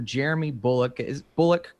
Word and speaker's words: Jeremy Bulloch: Actor Jeremy Bullock Am I pronouncing Yeah. that correctly? Jeremy Bulloch, most well known for having sported the original